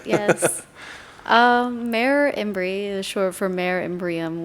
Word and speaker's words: Mer Imbri: Mayor Imbri is short for Mare Imbrium, which means it's a name for a lake on the moon.